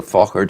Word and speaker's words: Faughart: And we should actually spell the Fochart for yes, people.